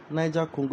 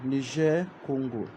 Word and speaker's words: Niger-Congo: So if you want to use the English pronunciation, Niga Congo, if you want to use the French pronunciation, Nijer Congo, okay, it's a very